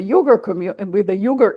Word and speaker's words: Uyghur: He did it both in Venezuela and in regard to the Ukraine, and he also worked with the Uyghur issue, or Uyghur issue, you can pronounce it both ways.